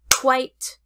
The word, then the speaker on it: quite: open mouth quit quite quiet is a two syllable word quiet it quit quite quiet it for example I quit my job